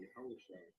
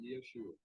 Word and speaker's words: Yahushua: And he said, I am Yahushua, whom thou persecutest. All right, and it's not Yeshua.